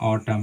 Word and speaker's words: autumn: सकते हैं, जैसे मानिए ऑटम, AUTUMN, तो हम इसको पढ़ते हैं ऑटम। यहाँ पर भी जो एन है हमारा, सो साइलेंट लेटर होती है, उसकी उच्चारण हम नहीं करते।